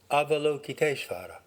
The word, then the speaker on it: Avalokiteshvara: Avalokiteshvara would be an approximate American English pronunciation. Avalokiteshvara.